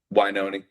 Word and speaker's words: Wynonie: And so, there's people like uh Is it Wynonie Harris or Winona? Yeah. How do you pronounce his first name? I'm Wynonie.